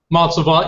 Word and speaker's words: Monsalvant: Is it Monsalvant? Monsalvant, yes.